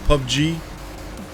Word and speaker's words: PUBG: Pug Pugg PUBG. That's how you say it.